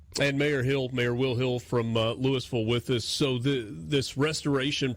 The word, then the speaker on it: Louisville: Down here we use all the letters in the South, and we say it right here in Louisville.